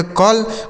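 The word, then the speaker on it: call: आगे लिखा है सी ए डबल एल। इसे क्या पढ़ेंगे? सी से हो जाएगा क। इस ए का उच्चारण अ हो गया। डबल एल से ल। इसे पढ़ा जाएगा कॉल मतलब क्या हो जाता है?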